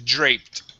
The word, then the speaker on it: draped: The word is draped. Can you repeat the word, please? Okay, it is draped. Drape. Yeah, we want to end with a T at the end.